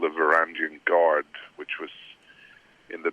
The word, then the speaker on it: Varangian: Yeah, Varangian, yeah, that's right.